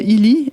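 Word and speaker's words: Healy: Illy, ça s'écrit comment?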